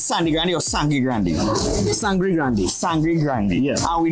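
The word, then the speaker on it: Sangre Grande: Welcome back, everyone, to another episode of Cravings, and today we in Sandy Grande. Pronounce it for me, it's Sandy Grande or Sangri Grande? Sangri Grande.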